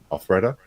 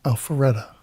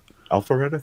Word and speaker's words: Alpharetta: This is coming out of Al Alfreda, Georgia. Alfreda. I'm not exactly sure how that's pronounced. Alpharetta. Alpharetta. Thank you.